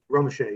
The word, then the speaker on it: Romesha: Is that how it's pronounced? Romeshay? Romeshay, yeah.